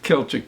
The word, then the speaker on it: Celtic: You're familiar with Celtic music, C-E-L-T-I-C. Okay, that's not like Boston Celtics. Different spelling. They spell it the same way, actually, different pronunciation.